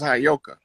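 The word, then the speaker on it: Heyoka: I was I already know I was telling you the that word is properly pronounced as hayoka and the hayoka is our way.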